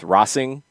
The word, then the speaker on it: Racing: of the team is racing louisville right i did see somebody say that they're they're trying to go with rossing um which would be a spanish pronunciation of this is that gonna fly